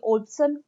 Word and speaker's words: Wolpson: था, जब ओल्पसन, यानी अगर इंग्लिश में हम इसको प्रोनाउंसिएट करेंगे तो ये ओल्पसन कहलाता है, लेकिन अगर हम इसको लिखेंगे तो इसमें डब्लू, लेकिन डब्लू चूंकि साइलेंट होता है तो WOLPSON, ओल्पसन ने